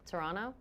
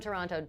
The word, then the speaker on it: Toronto: from Toronto. She does say Toronto. She emphasizes the second T.